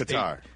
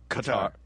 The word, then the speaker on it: Qatar: We need to just cut him saying the name Qatar. Hey, Nooner? Already done. Nice. Because for the next Qatar. Qatar. It's all where you put the emphasis on the syllables.